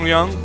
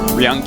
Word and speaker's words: Ryung: Center left, a player, rhymes with tongue, sort of, kind of. 슬레이어스 영. Tongue Ryung.